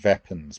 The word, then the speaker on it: weapons: If we look at this word weapons, just watch the pronunciation of that because it sounds more like weapons. Make sure we get weapons.